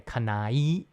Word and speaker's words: Kanae: And if you say it fast, it comes out sounding like an I sound and like a Kanai, but it's actually Kanae.